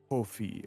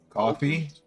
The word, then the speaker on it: Kofi: They call me Kofi of the land. Coffee? Kofi. Ophi of the land, huh? Kofi. Damn. Wait, spell that again? Like, Kofi. like Kofi, KOFI. like Kofi Kingston.